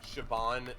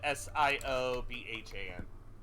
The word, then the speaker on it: Siobhan: even hear that who Siobhan Miller okay uh s-i-o-b-h-a-n Siobhan I think is where you pronounce that what do the